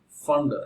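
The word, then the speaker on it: Pfund: In case of next one, fund. Actually P is silent, students. So here fund series.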